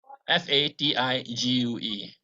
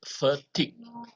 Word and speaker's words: fatigue: as fatigue actually it's vertic and it is not ck it doesn't have a ck sound at the back it's a g a very heavy g sound so you don't pronounce